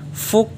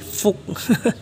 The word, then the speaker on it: Fuchs: Twin 2T teman-teman alias Fu Titan Twin 2T ternyata ini bacanya bukan ya tapi Fuk ya tolong dikoreksi teman-teman ya